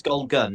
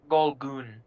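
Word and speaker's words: Gol'gun: It's Golgun, isn't it? Golgun. Golgoon. Oh, Golgoon. G-O-L apostrophe G-U-N. Well, no wonder you didn't respond. I slightly mispronounced the second syllable of your name.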